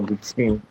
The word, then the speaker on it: Lucene: I hope I'm pronouncing that well. Is it is it Lucin or Lucin?